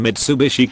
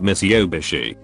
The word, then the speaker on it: Mitsubishi: but same outcome and mitsubishi comes out miss yobishi is she southern because